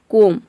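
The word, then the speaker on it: comb: जैसे कि देखिए यहाँ पे है कोम, कोम का मतलब होता है कंघा। अब यहाँ पे COM, केवल इसी को हम प्रोनाउंस कर रहे हैं कोम, बी को प्रोनाउंस नहीं कर रहे हैं।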